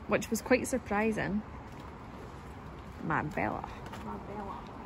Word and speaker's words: Marbella: You were actually the best at that at Marbella. One point, which was quite surprising. Marbella. Marbella. And we know that that's not how you say it. Yeah, no, we know. We know it's Marbella.